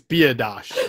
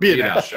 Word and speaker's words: Biadasz: I now know how to correctly pronounce the center's name. It's Biadasz. I wasn't exactly sure. Biadasz.